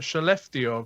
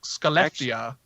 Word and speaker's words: Skellefteå: So that's how you pronounce that, Skellefteå. Because I've been saying like Skellefteå.